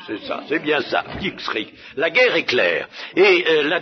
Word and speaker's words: Blitzkrieg: C'est bien à peu près comme ça qu'il faut prononcer, non? Blitzkrieg. Ah, c'est ça, oui, c'est ça, c'est bien ça, Blitzkrieg, la guerre éclair.